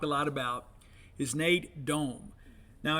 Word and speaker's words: Dohm: One of the guys we hadn't talked a lot about is Nate Dohm. Now, it's spelled Dom, D-O-H-M, but it's pronounced Dome, as in, the Minneapolis Metrodome.